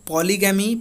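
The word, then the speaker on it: polygamy: चलिए पॉलीजनी, ध्यान रखिए, पॉलीगैमी पॉलीजनी बिल्कुल अलग अलग वर्ड है, एक ही नहीं है। इसका प्रोनाउंसिएशन होता है पॉलीगैमी, और इसका पॉलीजनी जनी, ठीक है।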